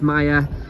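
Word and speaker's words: Maja: sign there that says Maya. A J is a Y. You see, because Polish language is very difficult, so it's spelled M-A-J-A, but the J is a Y, so that's why it's Maya Street.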